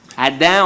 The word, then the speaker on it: Adam: Adam, on ne prononce pas le M.